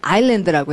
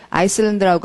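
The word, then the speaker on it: island: 예, 아일랜드라고 해야 돼. S를 발음하지 말아야 돼요. 아일랜드. 자, 근데 S가 있긴 있어도 아일랜드라고 읽으셔야겠고, 아이슬란드라고 하면 딴 나라가 되잖아요. 그린랜드, 아이슬란드 하는 나라 이름이 돼버립니다.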